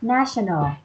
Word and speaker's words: national: This one, national. National. National. Dạ, nhấn âm đầu ha.